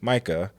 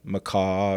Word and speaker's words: Micah: deal but it's the first name that I have grown up thinking was a relatively easy name to pronounce Micah uh but you know I get called MAA and all kinds of things so I can empathize